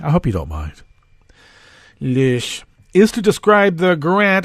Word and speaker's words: Loesch: I'm sorry, I have to pronounce it in the Teutonic way. I hope you don't mind. Loesch is to describe the grant as one to the school's JROTC in general.